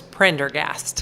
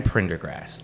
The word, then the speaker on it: Prendergast: There's only one R. Yep, that's right. And it's at the beginning.